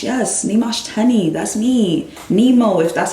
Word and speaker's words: Nyamuoch Teny: so don't try my name is nimash yes nimashtani that's me Nemo if that's all you know